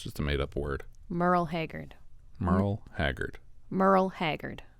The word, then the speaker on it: Merle: haggard's first name correctly merle merle like a girl with an m that's all right that's not a real name merle yeah it's just a made-up word merle haggard merle haggard merle